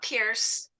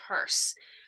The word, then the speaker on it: Peirce: Anyway, so Charles Sanders Peirce, and yeah, it's not Pierce, it's pronounced Peirce, even though it's kind of a funny spelling of Pierce.